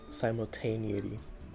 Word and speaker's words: simultaneity: I said pronunciation. Sim simultaneity or na simultaneity. Oh yeah. Yeah. Simultaneously. Simultaneity.